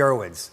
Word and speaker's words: Irwins: It's the Irwins. Did I pronounce it right?